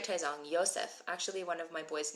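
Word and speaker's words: יוסף: at all Yakov also Joseph Joseph is ysep it's with a with it's with a yud which we're going to learn probably on Sunday we'll see cool that's right taong Yosef actually one of my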